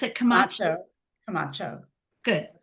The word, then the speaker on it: Camacho: do you pronounce it Camacho? Camacho.